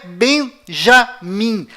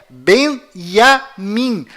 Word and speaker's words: Benyamin: Além disto, não é Benjamin. A pronúncia correta é Benyamin. Pois lembre-se, até hoje não existe em hebraico nenhuma letra com som de J.